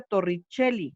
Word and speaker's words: Torricelli: el principio de torricelli aunque se escribe torricelle y se pronuncia torricelli como si ésta fuera un h porque no lo sé